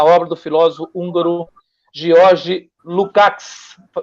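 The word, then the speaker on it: Lukács: o convite e o na verdade a pronúncia do do nome dele é uma pronúncia bem específica do Húngaro né então a é o é como se fosse um s com C no final uma coisa assim sabe lucc um negócio meio esquisito a nossa a nossa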